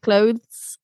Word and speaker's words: clothes: So you yeah, you have to put the ti- your tongue between your teeth at the end, clothes. And then it goes back in for the s. Clothes.